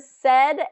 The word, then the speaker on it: said: my students the word said and says instead of it really the way it's spelled it should be say and says but it is more of a short e pronunciation said says he said